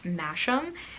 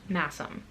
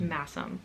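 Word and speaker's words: Masham: yarn i pronounced it mash'em and i believe it's pronounced massim so um it is spelled sh but i think it's pronounced masum so hopefully that's correct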